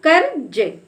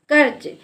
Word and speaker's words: कर्ज: पर लिखा है कर कर्ज तो हम इसका उच्चारण क के बाद आधे र के रूप में करेंगे तो कर्ज कर्ज यानी जिस अक्षर में